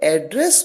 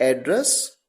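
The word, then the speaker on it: address: डू आई एड्रेस यू यहां पर इसे कैसे प्रोनाउंस किया गया एड्रेस एड्रेस का मतलब संबोधित करना एज अ वर्ब तो जब एड्रेस को जब इस particular word A double D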